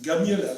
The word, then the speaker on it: جميلة: Okay, Jamila. جميل. Jamila. Jamila. Okay? Jamila. See? جميلة. Yes. Gamila with the G.